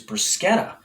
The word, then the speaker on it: bruschetta: so which pachetta bruschetta so the correct way to say these yummy treats is bruschetta really it's bruschetta not